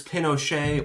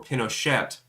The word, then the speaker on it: Pinochet: Yeah, whether it's Pinochet or Pinochet is completely up for debate because it was never confirmed by him himself which way it was pronounced.